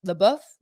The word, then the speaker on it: LaBeouf: have Anna Kendrick Chris Pine and Shia LaBeouf the buff I know how to say his name but